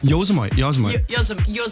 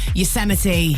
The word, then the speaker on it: Yosemite: Yosemite. Yosemite. It's so look up. This isn't going on. Look up the like pronunciation of that.